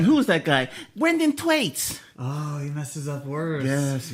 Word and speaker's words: Thwaites: Thwaites?